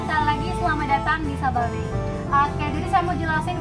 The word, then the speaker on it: Sababay: Banyak banget nih yang mispronounce ngomongnya Sababay. Ayo, ada yang ngomong Sababay di sini pasti ada ya. Jadi kalau udah jauh-jauh nih datangnya not Sababay anymore ya, but Sababay.